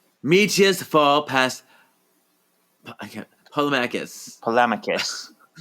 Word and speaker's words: Polemacchus: Polemacchus. Polemacchus.